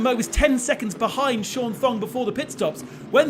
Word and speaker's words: Thong: Sean Thong has got to make the last stop. Don't pronounce the H, do you?